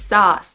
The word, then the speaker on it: sauce: I got it right it's sauce like I saw sauce okay yeah heard you